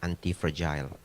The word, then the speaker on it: anti-fragile: Pronounce-nya yang benar adalah anti-fragile.